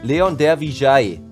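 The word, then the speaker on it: Leon Dervisaj: Aber hier ist übrigens die richtige Aussprache. Hat Leon gestern selber gesagt, Leon der Vijay.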